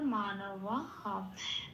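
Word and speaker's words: মানবঃ: বিসর্গ আছে, বিসর্গ থাকলে হ হবে। শব্দের শেষে পংক্তির শেষে বিসর্গ আছে, 4 নম্বরে তালিকাভুক্ত করে দেওয়া আছে, তখন বিসর্গ হ দিয়ে প্রতিস্থাপিত হয়ে যাবে। তাহলে এখানে আমার সংস্কৃত উচ্চারণটা হলো মানব হ।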